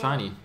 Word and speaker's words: Shinee: I guess I guess Shinny would never see it coming. Stratus says it's pronounced shiny.